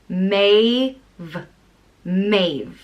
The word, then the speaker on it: Maeve: wine so and yeah maybe it's pronounced may mays there's a few different ways